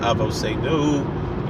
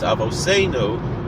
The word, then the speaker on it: Avoseinu: It's not Avoseinu, it's Avoseinu.